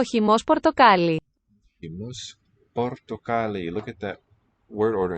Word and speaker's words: πορτοκάλι: Portocali. There's accent on the ka.